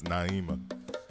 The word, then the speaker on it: Naima: uh miss mia or miss emma i'm sorry i always say your name wrong and i know it's naima i don't know it's